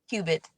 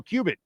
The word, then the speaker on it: Cubit: Is it pronounced Cubit? Cubit. Oh, Cubit.